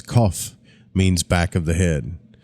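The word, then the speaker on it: Qoph: minute but the Hebrew letter cough pronounced as cough means back of the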